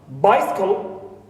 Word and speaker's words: bicycle: Also, bicycle, normally it is bicycle. But as you see here, the schwa in second syllable also is omitted, because it occurs between two voiceless consonants.